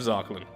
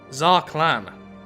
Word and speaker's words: Zarqlan: use the head of zachelon oh actually sites how it's pronounced tsar clan renowned holy figure